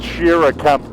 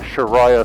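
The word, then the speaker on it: Shira Camp: a car up here it's pronounced Shir Camp by the way I don't know where I got the Shah thing from but yeah I just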